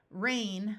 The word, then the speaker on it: reign: to a blood vessel rain with a silent G which refers to Royal Authority and in this word